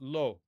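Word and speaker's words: לא: All right, next we've got lo. Lo. Okay? With niqqud, you can see that there is a dot above the aleph.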